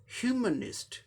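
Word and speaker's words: humanist: 3 syllable का word है, first syllable पर स्ट्रेस दिखाया गया है, यानी फर्स्ट सिलेबल को जोर देके प्रोनाउंस करना है। ह्यूमनिस्ट, ह्यूमनिस्ट, ह्यूमनिस्ट मतलब मानवतावादी, ह्यूमनिस्ट।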